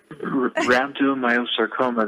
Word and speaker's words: rhabdomyosarcoma: it's the RH sarcoma rhabdomyosarcoma how do you pronounce it right rhabdomyosarcoma that yes no nobody should create